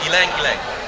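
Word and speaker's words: ylang-ylang: You pronounce it. It's ilang ilang.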